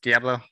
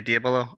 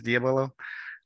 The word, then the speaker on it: diabolo: diva is you might have heard of it pronounced diablo i usually say diabolo or diabolo because diablo of course is spanish